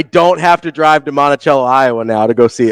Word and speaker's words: Monticello: I mean, listen, they might say it wrong in Iowa, but it's pronounced Monticello.